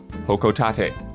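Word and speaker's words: Hocotate: I was not sure how to pronounce that planet that Olimar comes from in Pikmin series but I looked up an old trailer from a previous game and Isla was correct the pronunciation is indeed hokotate I did it if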